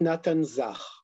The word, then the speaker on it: Nathan Zach: And is it Nathan Zach? In Hebrew, we pronounce it Natan Zach.